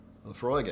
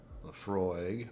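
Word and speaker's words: Laphroaig: I'm thinking about all the scotches I mispronounce now. Lafroig I say properly, as far as I know. Lafroig.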